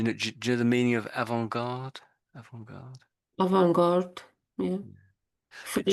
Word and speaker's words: avant-garde: So avant-garde. Let's listen to how they say it. Avant-garde. So there's no T when they're saying it. That's the key thing.